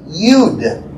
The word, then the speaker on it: Yud: The Yod is actually Yud.